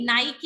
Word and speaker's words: नाइकी: सो उसको नाइक नहीं कहते, उसको नाइकी बोलते हैं।